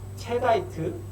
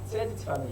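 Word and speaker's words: cheddite: 그리고 체다이트 또는 뭐 세디트라고도 부릅니다.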